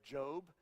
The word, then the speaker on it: Job: around Church maybe thinking that guy just pronounced that word wrong that's job Jo because my mom used to always tell me son you need to get a Jo B job and I know that's what it is that's probably how you